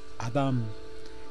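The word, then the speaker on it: אדם: Brazo izquierdo, de derecha a izquierda, se lee Aleph, Dalen, Men. Se pronuncia Adam, el un manás, u hombre celeste, hecho a la imagen y semejanza de Dios.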